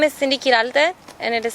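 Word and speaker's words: Qiral: students Cindy thank you my name is Cindy kiral and it is spelled c Dy q i r a l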